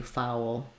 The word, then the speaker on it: foul: and then finally fou this is a place where thinking of it as having two syllables fou can help you foul um yeah and then